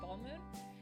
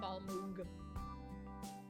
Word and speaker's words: Balmung: the screen it says ball moon yeah you don't pronounce the g okay it's just not ball moon still drinking my